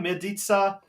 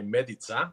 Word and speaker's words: Medica: Well, Croatian way, you'll say Medica. Yeah. Because Dad's Croatian, Mum's Italian. Dad, he came across from Rijeka. So, Yep. Beautiful. Over here, they pronounce it Medica, but Medica. the Croatian way, Medica.